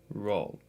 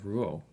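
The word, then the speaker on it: Rouault: Roll. Roll. R O U A U L T. name pronunciation. Yeah, Ruo.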